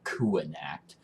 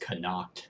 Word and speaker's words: Connacht: Like, he left me in this shithole Kuanact, which I thought was pronounced Connacht this entire time. But I'm apparently wrong because obviously the designers of the game know how it's pronounced.